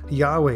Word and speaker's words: Yahweh: a variety of pronunciations there are still those that favor the traditional Jehovah or yahuveh Yahweh is perhaps the most common pronunciation recently however many